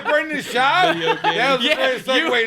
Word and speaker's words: Schaub: Brendan Schwab? Schaub.